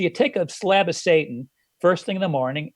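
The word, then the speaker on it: seitan: they can't say taht they should just call it satan you know that's kind of how it really sounds so you take a slab of satan first thing in the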